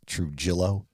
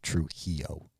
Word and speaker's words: Trujillo: Now, for just us American gringos, it's Trujillo, but pronunciation-wise, it is Trujillo.